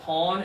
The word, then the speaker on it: pawn: This one here, single finger up, pawn.